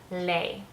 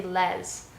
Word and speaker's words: les: from la, and together, phonetically, they sound like lay. Again, the way things are spelt in French, the sounds are completely different to in English. Like that's not, we'd say les, and in French we got the sound lay.